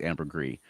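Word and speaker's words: ambergris: gree yeah Amber gree I think I'm pronouncing it right because it ends with an s but I believe it's Amber gree but me on that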